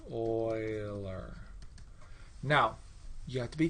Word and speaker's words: Euler: it down here oiler it's pronounced oiler now you have to be careful because if you mispronounce euler three times he will